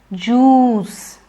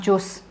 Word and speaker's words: juice: Juice. Don't say juice. Let's go and have juice. It's juice.